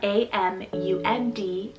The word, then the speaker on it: Amund: We have Amund, spelled A-M-U-N-D, Amund.